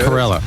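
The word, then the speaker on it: Carolla: that's right all right Corella like gorilla all right one more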